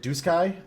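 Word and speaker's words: Duscae: They actually pronounce it Doo Sky. And I got a Was it D? I'm pretty sure he M Matt pronounced it dis uh Diskai or something like that.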